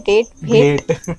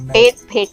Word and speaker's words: डेट भेट: So guys, उसका नाम है डेट भेट। उन्होंने स्पेलिंग ऐसी लिख रखी है ना, भट्टे कर रखा है, तो वो प्रोनाउंसिएशन गलत हो रहा है, बट डेट भेट है।